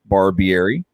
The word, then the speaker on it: Barbieri: As you can see her name, say it right, Barbieri.